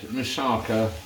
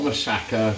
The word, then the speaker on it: moussaka: First time I ever had moussaka or moussaka, whichever way you want to pronounce it, was when we went to Rhodes last year, and it was lovely.